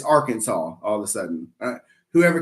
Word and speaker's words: Arkansas: No, it's not Arkansas. It's Arkansas.